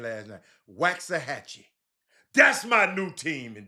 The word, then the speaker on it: Waxahachie: Jimmy, I learned how to pronounce their name last night. Waxahachie.